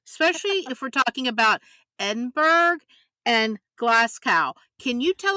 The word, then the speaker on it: Edinburgh: the beautiful Edinburgh it is not like Pittsburgh it's Edinburgh oh Terry Terry like kookaburra yeah okay okay okay just